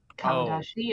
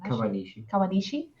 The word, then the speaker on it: Kawanishi: My first note is Kawanashi is a snake. Is that how they say his name? Kawanishi.